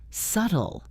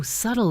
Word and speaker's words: subtle: Profound word seven is subtle. Subtle. Oh, subtle is one of those words that's tricky because of how it's spelled. Notice that the B is silent.